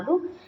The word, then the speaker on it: the: Vowel के पहले अगर द होता है तो उसका साउंड होता है दी ऑलमाइटी, दी एडवेंचर, दी एप्पल. ठीक है. अगर कॉन्सोनेंट के पहले होता है तो उसको प्रोनाउंस करते हैं द. इसीलिए इस चैप्टर का नाम है दी एडवेंचर, नॉट द एडवेंचर.